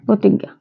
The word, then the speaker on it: প্রতিজ্ঞা: তো প্রথমে নিয়মটি হবে পদের প্রথমে ব্যঞ্জন বর্ণ এর সাথে র ফালা যুক্ত হলে তার উচ্চারণ অকারান্ত হয় অর্থাৎ তার উচ্চারণ ওকারের মত হয় যেমন প্রতিজ্ঞা এর সঠিক উচ্চারণ হবে